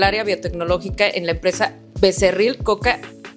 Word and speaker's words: Becerril: Trabajaste como ingeniera departamento en el área biotecnológica en la empresa Becerril Coca and Becerril. ¿Lo pronuncié bien? Y y Becerril, Coca y Becerril.